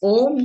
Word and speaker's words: ओम: आप ओम का उच्चारण ऐसे करोगे, ओ, ओम, तो अ से स्टार्ट करके आ की तरफ जाते हुए, ऊ की तरफ जाते हुए म, ये उच्चारण।